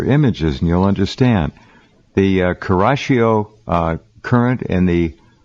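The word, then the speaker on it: Kuroshio: The Kurashio current and the Oyashio current, I think I'm pronouncing those correctly.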